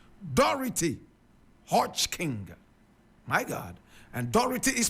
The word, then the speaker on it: Dorothy Hodgkin: today this is the woman we're talking about dority hod King dority Hodge King my God and dority is spelled D o r o t h y